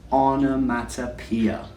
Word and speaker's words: onomatopoeia: In English, this is called an onomatopoeia. And it has 6 different sounds. On, a, mat, a, pia.